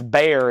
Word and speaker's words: Bexar: from Pennsylvania it's Lebanon you know it's Bexar it's beay in Texas the wild man from